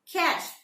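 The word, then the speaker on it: cache: Both are having the same pronunciation, cash. This side, the first one, the police seized a large cash, C-A-C-H-E.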